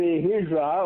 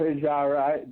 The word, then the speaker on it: Hijra: and that is called the Hijra or Hijra the however you want to pronounce it I like ajara just because it's easier to say in English but it doesn't make